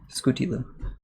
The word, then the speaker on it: Scootieloo: Scooty loop. I know it's a weird one. Perfect. Exactly. Kind of like Scooby-Doo also.